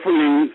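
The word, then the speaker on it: Freelines: producer of the famous Freelings. I'm saying it right? Yeah, Freelings. I call them Freelings. It's just like pralines.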